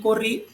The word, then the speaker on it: corrí: Y corrí, que tiene acento en la última sílaba o última vocal.